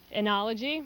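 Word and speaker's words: oenology: the country how do you say that word anology anology and that's wine making wine how do you spell it oh you don't know oh e e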